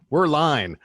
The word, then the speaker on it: Werrlein: Yes, Werrlein.